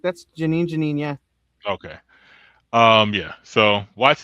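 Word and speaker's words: Jenin: I don't know how you properly pronounce that. Do you, homeboy? That's correct. That's Janine.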